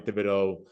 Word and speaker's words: Thibodeaux: forcing one-on-one matchups for uh Dexter Lawrence Kevin Thibodeaux uh did I say his name right yeah